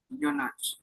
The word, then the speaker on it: eunuch: eunuch, and Eunuch. was It is pronounced as eunuch.